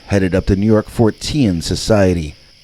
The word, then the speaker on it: Fortean: Keel and Beckley headed up the New York Fortean Society. That was how Keel pronounced it, Fortean, not Fortean.